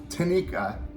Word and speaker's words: Tineke: this Vibe yep now uh to Nick uh Tanika that's how you pronounce her name um she decided to play